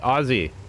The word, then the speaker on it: Aussie: had i had an aussie when i was a kid and the australians want to in in america we say aussie in australia they say ozzy they pronounce it with z's but i don't because